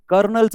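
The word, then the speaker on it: colonel: ओ एन एल हे कर्नलच spelling आहे आणि कर्नलच्या स्पेलिंग मध्ये के पण येत नाही कर्नलच्या स्पेलिंग मध्ये आर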